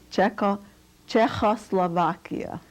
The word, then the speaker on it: Czechoslovakia: v a k i a how do you pronounce that please check o slovakia the town the city the town is is